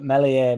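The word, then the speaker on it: Meslier: H there's been loads of talks you know that Melier melier silent s will get a start tomorrow.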